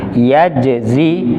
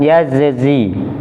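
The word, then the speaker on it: يجزي: Nah, mungkin kalau jim beriringan dengan zai, terkadang memang kalau tidak diperhatikan atau tidak terbiasa membacanya susah mengkolkolahkan jimnya ini. Jadi sempurnakan dulu huruf jimnya, yaitu mempunyai sifat kolkolah.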